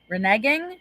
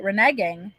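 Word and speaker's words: reneging: instead of that word instead reneg like nagging renegging oh I could do that renegging yeah rhymes with like okay I could do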